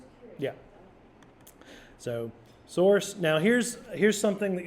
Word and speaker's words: SRC: is the SRC folder does anybody know how to pronounce SRC source source so this is the